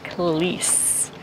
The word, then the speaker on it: Klis: the second century BC well I have been saying it wrong the whole time it is kalis please Fortress and what